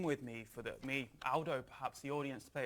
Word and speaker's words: Aldo: knocked me up on his Aldo not older Aldo's a very British pronunciation in Italian uh good to see